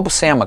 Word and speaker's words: Buscema: Prefiro o Sal Buscema no Hulk, mas também mandava bem. E a pronúncia não é Buscema, a gente fala Buscema, a pronúncia é Buscema, é sobrenome italiano.